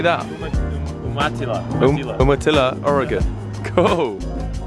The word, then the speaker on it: Umatilla: Umatilla, Oregon.